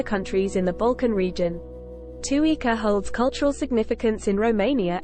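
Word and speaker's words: Țuică: Tuica, pronounced tu-e-e-ca, is a traditional Romanian alcoholic beverage made through the distillation of fermented fruit, most commonly plums.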